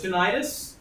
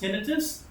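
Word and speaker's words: tinnitus: damage okay all right ever heard of tenius or something pronounced tinitus that's the beep sound got it that's tenius or tinitus Minier syndrome probably mispronouncing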